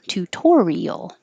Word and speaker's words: tutorial: 12 tutorial tutorial and the reason this t doesn't change to a d even though it's between two voiced sounds the the oo and the r is because it's in the stressed syllable so the t can only change to a d when it's in the unstressed syllable tutorial that's why this